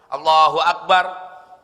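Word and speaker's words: الله أكبر: wajib bacanya pun sama enggak boleh ada huruf ww di tengah harus Allahu Akbar Allahu Akbar khusus untuk i'tidal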